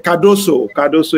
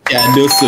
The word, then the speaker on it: Cardoso: I want to know the right pronunciation. That is a new CBA. Cardoso is the name. Cardoso, Yemi Cardoso.